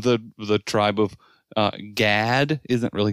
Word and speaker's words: Gad: the tribe of uh gad isn't really gad it's closer to how we would pronounce god uh and so yeah